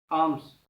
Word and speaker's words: alms: हमारा next word है बड़ा important word, आर्म्स, ALMS, आर्म्स, ठीक है। प्रोनाउंसिएशन पे ध्यान दीजिए।